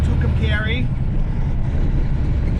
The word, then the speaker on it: Tucumcari: New Mexico that only truckers know how to pronounce. It's called Tucumcari.